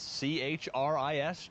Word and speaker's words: Chris: met a person named Tris c-h-r-i-s Tris that's what usually pronounced Chris the CH is a is a k sound you kidding yeah uh